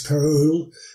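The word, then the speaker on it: Perrault: the towns of Europe but French author Charles Peru which is spelled p r r a u l t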